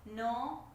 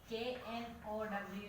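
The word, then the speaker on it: know: We do not pronounce the letter K there.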